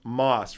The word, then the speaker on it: MOST: The MOST, and it's pronounced MOST from my understanding, this is essentially the bridge between Aleph Zero and Ethereum.